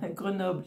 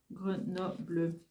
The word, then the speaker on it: Grenoble: Et comme Grenoble, c'est 3 syllabes, vous avez le greux, le no, bleu. La fille vachement à l'école. Greux. Comme ça. No. Bleu. Voilà. Grenoble. Voilà, j'habite pas vraiment Grenoble, hein, j'habite à côté.